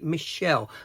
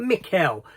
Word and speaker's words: Mikel: Now I had to be careful I said that because the way his name is spelt, you could almost say Michelle, but Mikel, given by his accent, he does come across as European from somewhere.